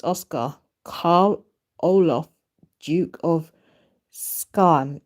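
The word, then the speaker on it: Skåne: And a second born is Prince Oscar Carl Olof, Duke of Skan. Is it Skan or Skane? SKA with an accent on the A and then NE. Is it Skane?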